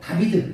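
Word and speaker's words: דוד: 저기 비읍 중간에 간 글자가 바브라고 해서 비읍자 비슷한 영어의 V자 비슷하게 발음나거든요. 비읍도 아닌 것이 이응도 아닌 것이 그런 비슷한 발음 나요. 바브. 그래서 달렛 바브 델렛 해가지고 다비드 이렇게 있거든요.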